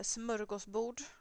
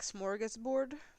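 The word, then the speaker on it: smörgåsbord: of you at least recognize uh smos B but I know that you would more pronounce it like smorgus board so that is a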